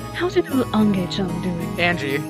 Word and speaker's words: Ange: case it'd be pronounced no no it's angie yeah it's angie like western names there's no i no it's it's angie trust me it's like uh angel but angie yeah yeah all right